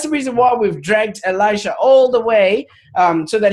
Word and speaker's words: Elisha: All of it, but if you don't mind a little bit of clarity, with the pronunciation of the name, it's actually Elisha. So Elisha.